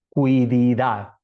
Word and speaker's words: quididad: einai es la quididad así se escribe q u i cui di de Dad quididad eh Cómo se traduciría